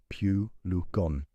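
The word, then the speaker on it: pulegone: It contains a compound called puligorn pronounced pu lugon and puligon is in fact a powerful uterine stimulant.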